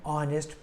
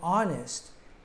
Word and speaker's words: honest: an herbal drink an honest person all three of these our herbal and honest start with the letter H except it's a silent h and so we have